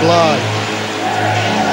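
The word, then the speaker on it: Blahyj: As you say, Paul, his name is spelled B-L-A-H-Y-J. His nickname happens to be how you spell it, Lodge. But he pronounces it Bly.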